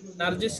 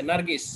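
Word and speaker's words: نرجس: এবং এটার মধ্যে হ্যাঁ নার্জিস আমরা নাম আছে নারগিস হ্যাঁ বাংলা দেশে আমরা নাম রাখি আরবরাও রাখে নারগিস নার্জিস মূলত এটা বানানটা হলো নারজিস জি আমরা এইতো শেষ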